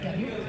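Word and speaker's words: Camus: know about Albert his exact pronunciation is Albert it's not campus it's Albert Camu he He is the father of and he wrote the the game of sis.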